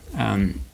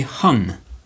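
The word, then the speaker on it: homme: So the letter H is usually silent like in front of the word for man or mankind which is um um um um and notice I don't say hum.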